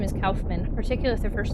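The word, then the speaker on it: Kaufmann: I also feel weird saying Calfman, but that's how he pronounc He was like, I'm I'm Calfman. He didn't say Caufman.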